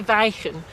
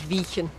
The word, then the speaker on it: Wijchen: spell you would say some people do say viking but the sort of more local name is vegan that's that's this the older pronunciation of the ij sound can you do a